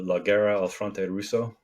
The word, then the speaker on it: La guerra al fronte russo: aren't you going to roll your R's? La guerra.